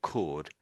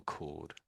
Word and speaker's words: chord: my cursor is, it's it's pronounced exactly the same way. So it's still chord despite having an H here. But it means it's musical. So it's a musical chord.